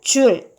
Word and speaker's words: 줄: 단위로서 1의 단위와 같은 줄 알파벳 대문자 제라고 표기를 하고요 읽을 때는 줄이라고 읽는 1의 단위를 에너지의 단위로 동일하게